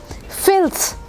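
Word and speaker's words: filthy: जाता है सब ने फिलदी फिलदी क्यों बोलना शुरू कर दिया एफ आई एल टी एच वाई इज नॉट फिलदी इट्स फिलसी फिल एक ऐसी चीज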